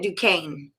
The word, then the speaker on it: Duquesne: So the first one I did was Dayton at Duquesne.